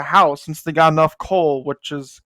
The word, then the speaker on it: Col: The next day, the moonlit black cats decide to go buy a house since they got enough coal, which is coal's the currency. It's spelled COL, and basically they could buy a house for everyone in the team.